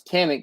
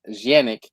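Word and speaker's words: Canik: He he has all the sexiness like it's it's technically so eastwin says he says canic but actually the the true pronunciation is janic means I wish I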